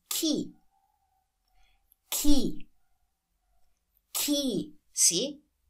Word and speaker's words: chi: If you have C-H-I, that's pronounced as key.